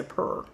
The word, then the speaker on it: Puur: And it's from a company called Pure, but it's spelled with two U's. So, I'm going to say purr.